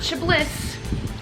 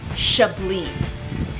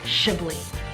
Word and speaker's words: Chablis: We're in northern Burgundy, and say it with me, Chablis. Beautiful. Don't pronounce that S. The French do not like extra syllables, so just take that off. Chablis.